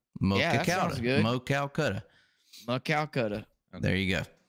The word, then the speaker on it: Maquoketa: We got help with the pronunciation from Brandon Mitchell here. I appreciate the $2, Brandon. By the way, Maquoketa. Maquoketa. Maquoketa.